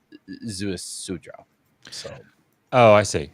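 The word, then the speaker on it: Ziusudra: I learned that the correct pronunciation of that is Zeus Sudra.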